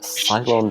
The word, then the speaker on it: Ceylon: This smells like Ceylon tea.